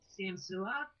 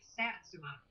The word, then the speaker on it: Satsuma: you, Susan, you told me that it's actually pronounced Samsula. Yes. Is that right? Okay. That's how That's how they say it down there. And and we keep pronouncing it satsuma because it's s a t su m a.